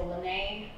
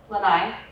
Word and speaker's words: Lanai: eating birds um this under here is the lynnae Lanai it's Hawaiian like sorry I don't know how to pronounce it Lanai thank you so this is the Lanai cat